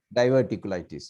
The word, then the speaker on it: diverticulitis: diverticulitis.